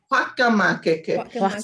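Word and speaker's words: fakamakeke: Is it hokemakeke? Is that right? Whakamakeke. So F-A-K-A M-A-K-E-K-E, whakamakeke. See, we pronounce the F like hua, like, I know, right?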